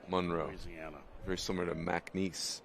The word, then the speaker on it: Monroe: And I believe that's how you have to pronounce it, right? It's not Monroe, it's Monroe. Monroe.